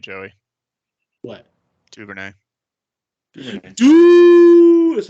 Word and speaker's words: Duvernay: Duvernay.